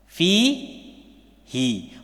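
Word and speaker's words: فيه: Bacanya apa? Fi hi. Walaupun awalnya di sini dhamma, nggak pernah fihu, itu nggak ada. Ya fihi. Walaupun kalau ada itu pasti ada sebabnya. Jadi bacanya fihi.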